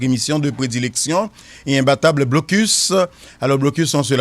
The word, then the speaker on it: Blocus: l'heure de votre émission de prédilection et imbattable Blocus.